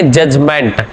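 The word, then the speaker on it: judgement: ए जज याद रखेंगे जजमेंट में डी साइलेंट होता है ये आपको याद रखना जजमेंट जुवेनाइल का मतलब होता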